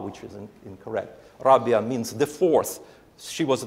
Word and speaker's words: Rabia: Brothers is named after her it's called It's pronounced Raba which is incorrect Rabia means the fourth she was the fourth f